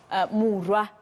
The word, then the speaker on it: Muroa: Muroa, excuse me. I keep correcting myself, and I have one of my bosses who's sending me even voice notes to remind me that that's how you pronounce her surname.